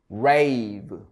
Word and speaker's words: brave: 자, 다음 단어는 얘가 E가 있으니까 얘는 발음이 없죠. 얘 발음이 길어지죠, 참. 그래서 A 발음이 나서 brave.